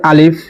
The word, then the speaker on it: আলিফ: এটিকে বলা হয় আলিফ। কোন টান হবে না।